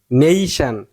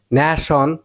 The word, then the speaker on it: nation: আর যদি বাংলাদেশের মতো উচ্চারণ করেন ন্যাশন, হ্যাঁ উচ্চারণ করেন সমস্যা নাই, কিন্তু হবো না।